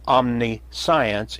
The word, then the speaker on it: omniscience: So, omni-science is pronounced omniscience, but it simply means all knowledge.